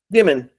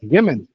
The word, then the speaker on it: Gimon: Gimman. It's a madeup Slavic name. Gimman. Well, it's spelled just like it sounds. Gimman G I M O N.